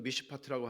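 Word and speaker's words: מִשְׁפָּט: 의미인가 하면 이게 번역을 어떻게 하냐면 이거 히브리말로는 미시 파트라고 하는 말인데 이런 말을 그냥 발음으로는 알아두면 좋아요 근데 판결이라고 번역됐어요 많은 구약성경에서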